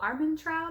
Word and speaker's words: Armentrout: absolutely loving it um jennifer l armentrout i believe is how you say her last name um absolutely loving it